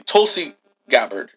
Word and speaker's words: Tulsi Gabbard: it up and pull it up how to pronounce it yeah hold on yeah Google Kelsey gabbard Tulsi he said Kelsey Tulsi Tulsi gabbard it's g-a-b-b-a-r-d oh there's no you no hold